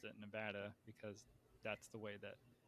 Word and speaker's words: Nevada: state that has Las Vegas how do you pronounce that state uh Nevada yeah it is Nevada so I used to say Nevada for the longest time and this is one